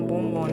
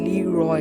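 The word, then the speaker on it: Leroy: मैंने कितनी बार बोला है कि मेरा नाम बूम वॉन नहीं है। और फिर वो बहुत ज्यादा फ्रस्टेट हो जाता है और अपने नाम की स्पेलिंग बताता है। आर ओ वाई आर ओ वाई मेरा नाम है ली रॉय।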